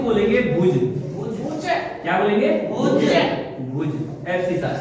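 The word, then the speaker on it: abscissa: है, इसको बोलते हैं एबसीसा। क्या बोलते हैं? ए बी एस आई सी, ए बी एबसीसा, ए बी सी I double S ए, एबसीसा।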